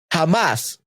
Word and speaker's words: jamás: If a word ends with a vowel, an N, or S, and is stressed in the final syllable, it requires an orthographic accent.